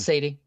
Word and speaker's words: Sadie: It's Sadie. Mm-hmm. Yeah. It's specifically from American English. Perfect. That is how her name is pronounced.